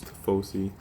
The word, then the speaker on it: Tifosi: I don't know how you guys are going to pronounce it, but it's Tifosi.